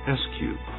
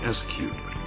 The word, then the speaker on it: S3TD: weight reduction Technologies our acronym for this silent supersonic technology demonstrator is written S3 TD which we call SQ for short in developing the S Cube Jackson applies its Leading